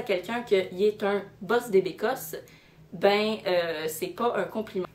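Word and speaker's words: bosse des bécosses: première que j'ai trouvé se prononcent boss des bécosses donc si je définis chaque terme bosse ça veut dire patron ça s'écrit b oss et decosse passée les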